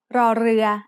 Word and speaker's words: รอเรือ: The sound of รอเรือ as an initial consonant is r, like the double R in burrito when spoken by a native Spanish speaker. In other words, this is an R sound with a trill.